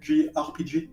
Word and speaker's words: JRPG: Say it correctly. G RPG. That's how you say it.